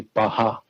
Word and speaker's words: Paha: the last two syllables, it has P-A-H-A-H, and that would be Baha.